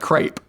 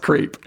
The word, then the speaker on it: Creape: And there's an E on the end of Creape. That's right. It looks like crepe, but it's pronounced creep.